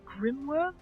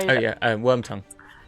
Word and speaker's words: Wormtongue: Is it Grimworm or Grimtongue? The guy. Wormtongue. I was close. Grim. Yeah. I mean, he's very grim. Wormtongue and King.